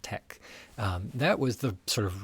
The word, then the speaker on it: TeX: It's pronounced tech.